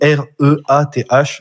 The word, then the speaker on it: Reath: Mais lorsque le vaisseau à bord duquel il voyage se retrouve éjecté de l'hyperespace lors d'un désastre galactique, Reath, parce que ça s'écrit R-E-A-T-H, donc Reath.